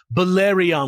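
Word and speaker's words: Belarion: of the antichrist and declaring himself Bolyriion, which which rhymes with theion by the way.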